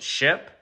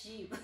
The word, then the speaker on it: ship: I guess it's sheep. Okay. It's how do you say it? Ship. Bye. How do you say it? Ship. Ship? Yes. Not sheep.